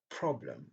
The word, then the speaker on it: problem: Comme également dans le mot problem. Problem, c'est la première syllabe qui est accentuée.